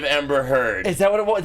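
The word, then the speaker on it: Amber Heard: give you crap for saying Ember head instead of Ember herd is that what it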